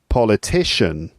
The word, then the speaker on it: politician: on the second syllable so politics politician political politically right so that's a word